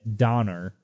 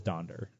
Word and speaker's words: Donder: the name Donder and my guests would be as most people were pronouncing it Donner and not Donder almost simply not crazy you know tis Donder right and it's interesting that